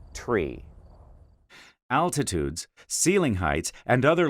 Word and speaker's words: tree: clarity over the radio nine is pronounced niner five should sound like five and three is articulated as tree altitudes ceiling heights and